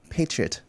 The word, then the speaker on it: patriot: And then you said the word patriot so quickly. It's supposed to be said in 3 syllables.